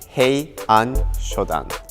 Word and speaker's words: Heian Shodan: The pronunciation of this kata is he shoddan.